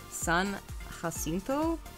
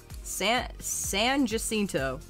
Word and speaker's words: Jacinto: Oh, you pronounce the J in Jacinto? Oh. San Jacinto.